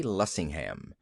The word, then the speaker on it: Lessingham: penned Falstaff with nobody else in mind but Sidney J. Lessingham. And no accent on the ham, please.